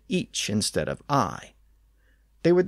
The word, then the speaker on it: ic: from earlier episodes that it was originally pronounced each in Old English usually spelled I or